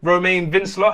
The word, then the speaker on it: Romain Vincelot: so we're here with Romain Vince law have I got your name pronunciation right yeah yeah maybe I should have tried it with a bit more of a French accent I did French at